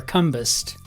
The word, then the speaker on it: Combest: My name was intended to be pronounced Combest, like Combest. But it just goes by, it just stands to reason everybody's going to call you Combest, and that's what you do.